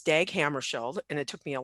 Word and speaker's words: Hammarskjöld: So it's Dag Hammarskjöld, and it took me a long time to learn how to pronounce his last name correctly.